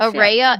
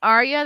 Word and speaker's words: Ara: ARA it's ARA I've been saying Arya this whole time they have to they had to teach me too she's a butt rug baby she's in the band they had to teach me because I said it wrong for like a year it's like array of light Araya light and I've